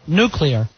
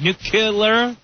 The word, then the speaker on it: nuclear: Is it because you're putting that extra "k" in there, like nuclear, when it's not spelt that way?